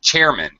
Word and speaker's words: chairman: And Ileana, one other thing, chairman. Okay, Chairman. this is a compound noun, so the first word is very high and stressed, and the second one is, if anything, underpronounced low.